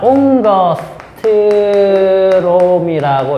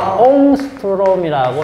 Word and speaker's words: 옹스트롬: 자, 옹더스트롬이라고 읽어도 되고, 옹스트롬이라고 읽어도 됩니다.